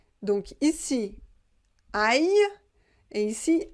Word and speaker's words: aille: Attention, ici vous avez I-L-L, la prononciation c'est Y. Et là vous avez L-L-I, la prononciation c'est li. Donc ici, aïe, et ici, allions.